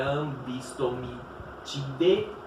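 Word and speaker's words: Ambystomatidae: A família Ambistomitidae, lembrem sempre que esse AE no final se pronuncia E, não AE, então é Ambistomitidae.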